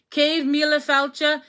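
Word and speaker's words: céad míle fáilte: And then cave mila falcha is how you say 100,000 welcomes.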